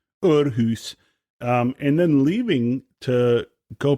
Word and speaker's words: Aarhus: talking to him about when he was in Aarhus, the orchestra in Denmark. That was a beautiful pronunciation. Well, you know, I am Scandinavian. In Aarhus. Aarhus.